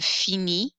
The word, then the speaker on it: finis: These endings on the left are pronounced E. You don't hear the final S's or T's. So this is pronounced je finis, tu finis, il finit, elle finit, on finit.